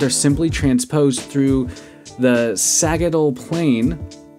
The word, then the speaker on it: sagittal: simply transposed through the sagittal plane or sagittal if you like that soft G the heart is located